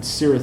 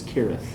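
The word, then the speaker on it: Cirith: a kid and they always called they always pronounced it syrah thundel but apparently it's correct the correct pronunciation is kirith i don't know why i know that's the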